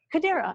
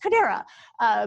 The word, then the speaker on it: Chodera: Kodera, it's so easy. And I always say it wrong, it's just Kodera.